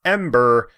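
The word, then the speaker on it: AM8ER: game that'll definitely fun while pronounced ember is spelt am hyphen eight ER and I don't know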